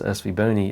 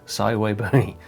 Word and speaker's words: SVBony: I think every astrophotographer out there always says SV bony and thanks to thanks to Trevor from Astro backyard to let us know that hey it is actually pronounced saway bony who knew so uh over the years you